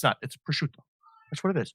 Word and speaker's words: prosciutto: For people in the tri-state area, Italians pronounce their vowels. It's not prosciutto. It's prosciutto.